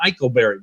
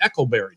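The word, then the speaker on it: Eikleberry: like ryan eckleberry i used to call him eichelberry but i met him and he said now it's pronounced echolberry did you know that i didn't know that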